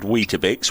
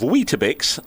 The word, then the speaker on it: Weetabix: true the manufacturers of Weetabix made up the name out of wheat and biscuit. It's a Greek formed name, so the plural would be Weetabixes. The last syllable is pronounced bees.